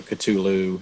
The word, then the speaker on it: Cthulhu: Um how do you pronounce that name? I've always gone with Cthulhu, but I've heard the harder, you know, Culu as being, you know, quote unquote also acceptable.